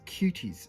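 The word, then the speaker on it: Quties: This is Cuties.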